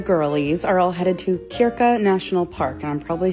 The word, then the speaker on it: Krka: Today, the crew, the girlies, are all headed to Kiraka National Park. And I'm probably saying all of it incorrectly. It's It's spelled K R K A.